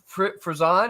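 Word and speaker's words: Frison: Jenny Fzison, is that how you say it?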